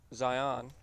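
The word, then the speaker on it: Xi'an: I pronounce it Zion, but I couldn't tell you if I'm right or not, but this is the Zion.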